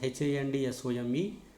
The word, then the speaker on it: handsome: The letter is double but the sound is single, and this happens silent in some words such as HANDSOME.